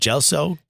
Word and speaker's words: Gelso: Gelso, appropriately pronounced GELSO and Grand on the corner of Mulberry and Grand Street.